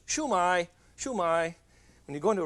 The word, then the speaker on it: shumai: and it's called a shumai shumai shu dash mei shumai and it's pronounced downhill chinese always goes downhill so it's not shumai and it's not shuma it's chumai chumai when you go